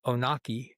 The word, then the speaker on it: Onaqui: Yeah, Onaqui or Onaqui, you but try to be it's fancy. yeah, but it's Onaqui, and it's um, it's a beautiful place.